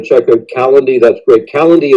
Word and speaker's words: Calendly: Calendly is a great, Calendly, I should say, is a great app.